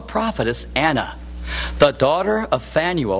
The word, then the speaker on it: Phanuel: There was also a prophetess, Anna, the daughter of Phanuel, or perhaps better pronounced, Peniel, of the tribe of Asher.